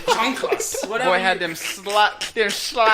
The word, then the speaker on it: chanclas: I had my chicletas. Did I say it right? What the I fuck said is it right. Your chanclas.